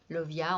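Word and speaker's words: Lauviah: Donc vous voyez, Lovia, on a l'idée de love. Bon, ça s'écrit pas comme ça s'écrit L-A-U-V-I-A-H.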